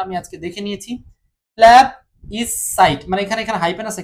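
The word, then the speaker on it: plebiscite: আমি আজকে দেখে নিয়েছি প্ল্যাব ই সাইট মানে এখানে এখানে হাইপেন আছে কিন্তু হ্যাব সাইট সাইট এই তিনটা ভাগ করে এটাকে উচ্চারণ করতে হবে ঠিক আছে 38 নাম্বারটা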